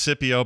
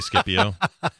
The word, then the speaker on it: Scipio: I feel like Scott you said Scipio it is definitely Scipio right it's pronounced Scipio but it's got a C and and it annoys me so I say skip you okay this is a